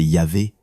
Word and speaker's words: Yahvé: Le tétragramme, souvent restitué comme IG whh, prononcé Yahvé, est traduit dans la plupart des Bibles françaises par l'Éternel.